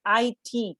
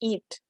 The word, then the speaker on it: IT: are actually initialisms and initialisms are words pronounced letter by letter here is the difference and please pay attention to the pronunciation they are pronounced letter by letter so for example i t is not pronounced it